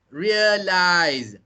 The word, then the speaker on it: realize: Even if the spelling is SE, the pronunciation is still authorize, realize. So the pronunciation is with the Z sound.